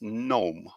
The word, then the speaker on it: gnome: on the pronunciation so that's gnome with silent g okay let's look at